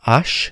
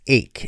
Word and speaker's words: ache: It's not ash, it's ache.